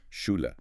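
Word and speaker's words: Schule: Sh is like the English. And a clear ooh sound. Then the e at the end is like a soft ooh or e. Shula.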